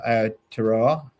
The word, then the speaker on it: Aotearoa: So if I don't get an entry, I'm thinking of going back across the ditch and trying your Tour of Aotearoa. Yep. I think I pronounced that correctly.